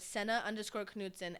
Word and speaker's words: Sena Knutson: On let's say Instagram, Senna Kudson.